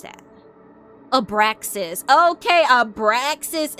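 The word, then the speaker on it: Abraxas: Abraasis is how you pronounce his name.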